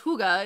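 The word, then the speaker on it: hygge: So you would think that it's Huggy. Higi, Higi, something along, but it's Huga is how you pronounce it.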